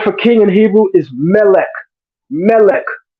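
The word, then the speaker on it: מלך: The word for king in Hebrew is melech. Melech. The word for angel is malach. The only difference is the vowel shift.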